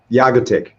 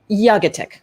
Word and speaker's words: Jagatic: Jagatic. Jagatic. So close. I was really close. Jagatic.